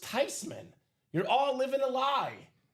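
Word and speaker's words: Theismann: Look at how it's spelled. It's a German name."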